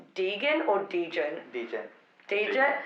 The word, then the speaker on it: degen: to whether it's pronounced Deegan or Deegan? Deegan. Deegan? Deegan, like, like, Deegan, it's from degenerate, isn't it?